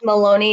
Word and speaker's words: Maloney: It's all at Maloney Comedy, and it's Maloney. It's spelled like baloney, Maloney comedy.